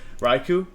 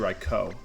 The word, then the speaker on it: Raikou: His team is Clefable, Latios, Raikou, which I think the official pronunciation is actually Raikou, but I say Raikou because I know how to pronounce Pokemon names correctly.